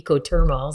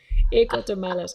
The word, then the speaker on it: Ecotermales: I say ecothermals. That's English, but it doesn't sound right. Ecotermales.